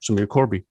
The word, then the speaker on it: Korbi: pronounce it in a since I'm Dutch I would pronounce it as but I mean when I when I uh talk to someone and we're having an uh conversation in English I tend to say Corby yeah so spot on